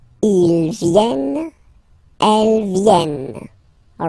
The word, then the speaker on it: viennent: Elles viennent. Ils viennent. Elles viennent. All right? E and T. You don't pronounce them.